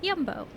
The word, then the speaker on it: Jumbo: drive 15 20 minutes fact pronounced jumbo but yumbo please feel free to